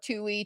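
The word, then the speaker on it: Touhy: It's spelled T O Uh-hy.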